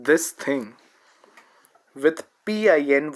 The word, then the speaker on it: pin: pronouncing this thing with P I N Y I N with the first tone. It is pronounced as pin. Pin. Pin like P sound and Yin.